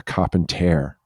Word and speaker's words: carpenter: pronunciation in 18th century, they did pronounce it a carpentare as opposed to a carpenter.